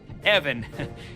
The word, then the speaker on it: Ivan: You might have saved my life today, so ask away, Ivan. Evan. It's pronounced Evan, with a short guttural.